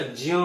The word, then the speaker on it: ज्ञ: जो संस्कृत के जो विद्वान हैं वो इसको कभी भी ज्ञ नहीं बोलते हैं, हमेशा ज्य बोलते हैं। ज्य, ज और य, अ, ज्य, ज्य बोलते हैं इसको, ज्य, विज्ञान।